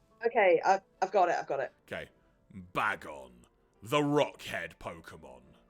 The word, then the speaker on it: Bagon: Also, you're right, Bagon probably would be the correct pronunciation because there's only 1 G, so yes, Bagon!